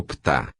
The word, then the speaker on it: Ptah: quemetense, derivado do amita, virou Ptah, sendo o H falado do fundo da garganta como se fosse um R, e o I aglutinado ao próprio P. O P e o F eram também pronunciados de forma muito próxima, podendo ser facilmente confundidos.